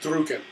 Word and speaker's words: drucken: And maybe it's a German term in origin and whatnot. It means pressure. It's pronounced drucken.